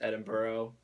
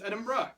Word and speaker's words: Edinburgh: Scotland flag right here Scotland um edun they pronounced at Edinburgh I've been calling it a number of things edinboro I think a lot of Americans think it's Edinburgh um but we were told it's Edinburgh Edinburgh so we I might switch off I'm